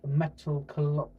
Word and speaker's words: Metalocalypse: Starting off with a thing I've just watched with a three-season series called Metalocalypse. Metal. I've always had trouble to pronouncing this. It's basically apocalypse with metal at the start.